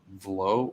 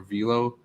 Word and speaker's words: VLLO: do a search in the Android store for a program called Velo or Velo. It's spelled VLLO.